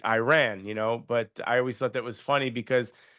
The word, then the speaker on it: Iran: I mean, the English language, we have hard I sound in our, pronunciation of words. So it comes natural that you would see Iran and make it Iran, but I always thought